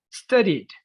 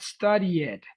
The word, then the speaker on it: studied: Visited, loved, not love it, loved, enjoyed, not enjoy it, studied, not study it. You don't pronounce it that much.